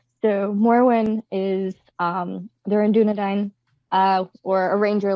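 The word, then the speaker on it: Dúnedain: Dunedain. Dunedain. Yes. Okay, I keep trying to put like extra syllables in there. Dunedain. No And- extra syllables, just extra diacritics.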